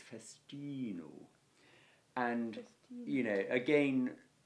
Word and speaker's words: festino: is when you learn it, to learn its festino. And, festino. You know, again, correct Latin pronunciation, mine is not brilliant, as I'm sure you all now know, but...